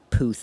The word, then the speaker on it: Puth: And Charlie Puth interviews.